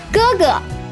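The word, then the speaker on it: 哥哥: cool first attempt but the second module is pronounced as a neutral tone and sometimes can be omitted in spoken Chinese googa googa googa well Google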